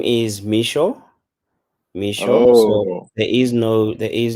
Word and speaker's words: Mixo: since morning no worries um my name is micho there is no there is no on it